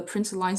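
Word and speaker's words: println: Uh, so the PowerPoint says that the print line statement is pronounced print lin, but me personally, I think print line makes more sense.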